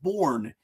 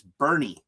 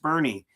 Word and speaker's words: Bourne: It's Bernie. It's pronounced Bernie." As a Yankee fan, that was easy to remember because I just thought about Bernie Williams.